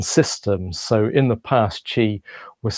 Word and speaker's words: Qi: So in the past, Qi was spelled CHI, but now the modern way of spelling it is QI, but it's still pronounced Qi. So it's a bit like CHI, and that's your life force energy.